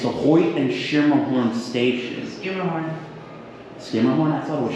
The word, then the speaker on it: Schermerhorn: Skimmerhorn, Skimmerhorn? I thought it was Schimmerhorn. Skimmerhorn. Skimmerhorn? I've been saying it wrong for years.